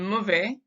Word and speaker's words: mauvais: And then mauvais, again, we don't pronounce that consonant at the end. We don't pronounce the S. We just say il fait mauvais.